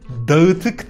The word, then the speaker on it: dağıtık: It's dağıtık defter. Come again? Dağıtık defter. It's hard for even for Turkish people. Oh no. I'm gonna absolutely murder this one. Let's start with distributed. Can you just say it like really slowly? Yes. Dağıtık. Okay. Dağıtık. That's perfect. That's you landed.